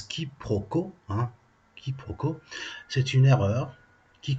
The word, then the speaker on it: quiproquo: dictionnaire robert leurs bancs du collège ça se prononce quiproquos quiproquo c'est une erreur qui consiste à prendre